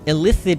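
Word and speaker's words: illithid: just think of it just think of the word elicit that's pronounced the same yeah but it's that's already a word and elith it is a madeup word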